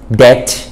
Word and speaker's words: debt: ง ข อ ง ห นี้ ฮ ะ debt น ะ ฮ ะ ภ า ษ า